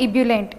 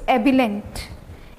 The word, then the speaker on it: ebullient: इट्स नॉट एब्यूलेंट, इट्स एबिलेंट, इट्स एबिलेंट, एबिलेंट, एबिलेंट, एबिलेंट।